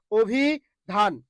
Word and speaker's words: অভিধান: ও ভি ঠিক আছে এই যে ধান ধানে ধাক্কা খাচ্ছেন যেখানে ধাক্কা সেখানেই হস অভি ধান অভি ধান ওকে তারপরে বক্ষ খেয়াল করুন